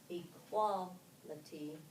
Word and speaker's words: equality: these derivatives equal human what do you notice about the accent where's the accent in in equal what about human first it's in the first syllable um it shifts from the first syllable to the second syllable when we add the